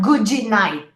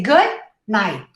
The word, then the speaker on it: good night: Not goodie night, right? You say good night. 2 syllables. Good night.